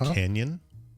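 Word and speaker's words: Cañon City: So it's pronounced Canyon.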